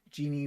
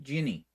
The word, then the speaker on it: Ginny: My name is Jeannie, rhymes with Minnie. Oh, Jenny. Minnie. No, Minnie, Ginny. Ginny. Like Jeannie? Jenny? No, Ginny. Like the bottle of rum, bottle of gin with an I at the end.